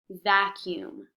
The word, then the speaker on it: vacuum: This word is spelled very strangely, but it is pronounced vacuum.